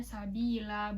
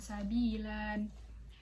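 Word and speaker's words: سبيلا: Wasa'a itu mat wajib munfasil, sabi itu mat tobi'i, sabila itu disebut mat iwat karena dia di akhir ayat itu tanwin, jadi dibacanya sabila bukan sabilan, kayak gitu.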